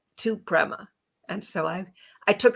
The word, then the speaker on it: Prema: she's going to tell us all about it Prima welcome to the show Prema Prima still said it wrong how to say